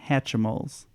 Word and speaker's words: Hatchimals: of this is and we settled on hatchimals that's the exact pronunciation hat sweet yeah they